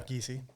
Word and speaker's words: Giesey: Yeah, Giesey.